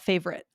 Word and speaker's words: favorite: What about favorite? Yeah. I think I did find myself kind of saying favorite. Favorite. Really? Okay. Favorite. So, three.